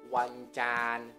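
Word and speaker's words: วันจันทร์: Dibacanya adalah wancan.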